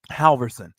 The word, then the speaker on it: Halverson: if you don't and his last name is spelled h a l v r s o n Halverson he said this when